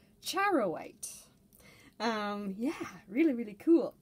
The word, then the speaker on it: charoite: it only makes sense that it would be pronounced charowite um yeah really really cool i'm glad i